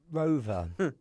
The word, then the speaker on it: ROAVR: And the name Rover. Oh, God. So it's spelled ROAVR.